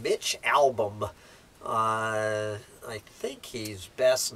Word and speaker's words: Albom: recognize the name Mitch how do you pronounce as a-l-b-o-m Mitch album uh I think he's